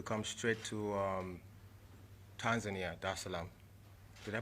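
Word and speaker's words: Dar es Salaam: the seventh to come straight to um tanzania da salaam did i pronounce that right yeah okay cool there islam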